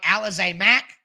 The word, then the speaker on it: Alize Mack: Finally, for the third try, I got the pronunciation of his name right. Alize Mack.